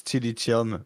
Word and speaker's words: Tilitium: I'm French, so it's Tilitium, but Tilitium Oh, is so it's So kind of like how I was Tilitium.